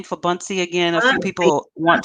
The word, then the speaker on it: Buncee: to his work so just wanted can you pronounce the name for buncee again a few people want to know the